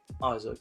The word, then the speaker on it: Isak: And that is the name of Alexander Isak. I think I said it right. Isaac, that's it.